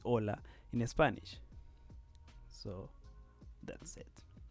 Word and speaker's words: hola: is the letter h in spanish you don't pronounce the letter h as you can see when you say hola in spanish so that's